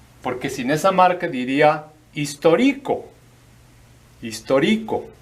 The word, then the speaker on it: histórico: Y otra palabra que está medio interesante es H muda, I, S, T, O, marca de acento aquí, R, I, C, O. Histórico.